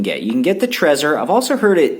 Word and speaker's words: Trezor: You can get the Trezor. I've also heard it pronounced Trezor, but I've heard it pronounced Trezor more than anything, so I'm going to stick with that.